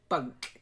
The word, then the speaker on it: bunk: And bunk. Careful, it doesn't sound like bank. Bunk.